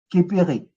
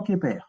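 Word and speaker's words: Kheper: Tout à l'heure, quand on a dit, Charisse a prononcé Képer, elle a dans un premier temps elle a dit Képéré. Mais c'est repris tout de suite en disant Képer. Donc, le E muet n'est pas à la fin du mot, mais il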